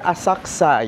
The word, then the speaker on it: Asakusa: It's our first day here in Tokyo, Japan and nasa Asakusa or Asaksa. Yun iyung tamang pronunciation. Yan, sinech natin. Medyo silent u daw.